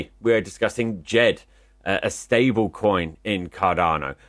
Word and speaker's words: Djed: Now, Djed, spelled D-J-E-D, pronounce it how you like, it's Djed to me, is the stablecoin developed by IOG.